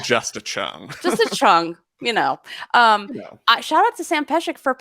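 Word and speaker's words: Cheng: Just a chung, Shout out to Sam Peshek for pronouncing chung correctly.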